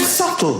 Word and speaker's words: subtle: The word subtle. Would anybody object if it was spelled s u t l e?